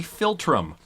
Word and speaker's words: philtrum: nose is called the philtrum the filter philtrum philtrum like from hey phil and hey trump interesting you're two friends